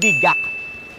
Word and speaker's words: GAC: Oh, I just remembered, speaking of the logo, aside from Gulapa, the proper way of pronouncing this brand is G A C. Not GAC, okay?